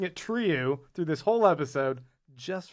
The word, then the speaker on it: Trieu: This one's from Pop215, who said, it's pronounced true. True. Stop saying it the wrong way. And then they gave us 3 stars. Yeah. So fuck you. I'm pronouncing it Trieu through this whole episode just for you.